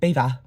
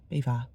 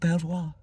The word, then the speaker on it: Belvoir: a beautiful view, Belvoir, the English couldn't pronounce it. So instead of, trying to speak French, we just went Bee-vaa. That'll do. Bee-vaa. So it's called Belvoir Castle, not Belvoir.